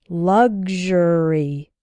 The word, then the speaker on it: luxury: like ksh sexual and in luxury and luxurious it sounds like g z h g luxury luxuous I often hear students